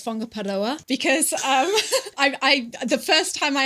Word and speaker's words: Whangaparaoa: Especially, we always talk about the WH sound, the WH letters, making the f sound, which it's trust tricky.